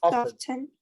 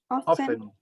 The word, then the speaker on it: often: Se comen la T. Often. Si lo escuchas así, lo tienes en cuenta. Porque tú me estás pronunciando muy clara la T. Cuando dice often. Y eso sería un británico quien diga eso. Un norteamericano nunca te va a decir often.